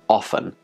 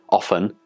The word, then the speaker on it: often: into this word and now we have two acceptable pronunciations often and often I'm more inclined to